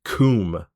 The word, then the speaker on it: Cwm: It is spelled CWM and then cernant, but it tells you in the text that CWN is pronounced kum.